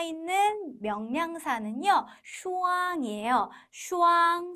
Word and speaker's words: 双: 와 있는 명사는 슈앙이에요 슈앙 쌍 우리말도 어 발음이 비슷하지요 쌍을 이루는 물건을 셀